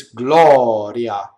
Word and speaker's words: gloria: in the first one we have Gloria flipped oh it's not notice it's not Lauren yeah it's not rolled it's Gloria okay ready it's just one little tick of the are so it's one of these everywhere it's only one of those right Gloria that's it